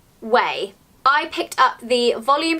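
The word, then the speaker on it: Ouai: new hair care range which is spelt oua I but apparently you pronounce it way I picked up the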